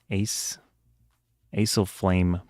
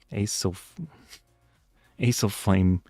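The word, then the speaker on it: acesulfame: Well, well, it's sucralose and ace as flame potassium. So, I think that's aspartame is like the official brand name for AC u lf a m. Oh, I mispronounced it. Asil flame potassium.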